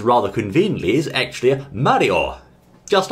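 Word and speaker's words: マリオ: the way he said the first symbol of course means ma the second one is re and the third one is off hence Mario or Mario in English but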